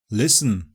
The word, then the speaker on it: listen: Silent T With so many different pronunciations flying around, it's easy to forget that sometimes we simply don't say the t: GOURMET CASTLE LISTEN And it's optional in OFTEN, yeah people often drop the T there.